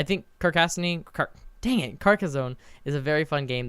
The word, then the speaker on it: Carcassonne: mm-hmm so another item follow up I play car Cassini which I discovered was actually pronounced Carcassonne anarchist fastening carcass of Carcassonne which is follow